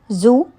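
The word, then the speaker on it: xu: The 6 sounds are Zu, pronounced like sh, shh, with a deep sigh, which is associated with the liver.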